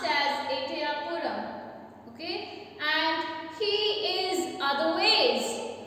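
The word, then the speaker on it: Ettayapuram: He was born on December 11th, 1882 at Etayapuram, India. Okay, this is his birthplace. It's pronounced as Etayapuram.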